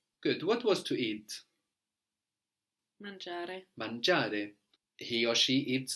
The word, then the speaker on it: mangia: Mangiare. Mangiare. He or she eats a lot. Mangia. Mangia molto. Mangia molto. Good. And mangia is spelled M-A-N-G-I-A. No, so again, G-I just giving us the soft J.